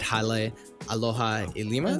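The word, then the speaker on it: Hale Aloha Lima: some of them was, you know, dorming at Halle Aloha Lima. Did I pronounce that?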